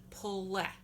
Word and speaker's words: pule: And the way we say that in Lenape is pule. Pule. So it sounds like pull, like you pull the feathers off a turkey. Pule. And that sounds like the word let without the T.